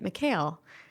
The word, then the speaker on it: Mikhail: being michael the egyptians because they're more aligned with the russians uh pronounced it mikhail um instead of michael